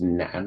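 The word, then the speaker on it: 男: So this is pronounced nan, and it means man.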